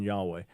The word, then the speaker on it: Yahweh: a debate Al although overwhelmingly Scholars favor the pronunciation Yahweh but the idea that it was Yahweh is